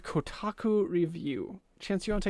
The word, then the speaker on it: Kotaku: some news came up from kutaku or kotak even i'm saying it wrong now kotaku that they got to